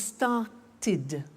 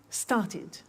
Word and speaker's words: started: group is actually easy if a verb ends with a T or D then the pronunciation of II D becomes it and in fact it's impossible to pronounce it any other way take an example start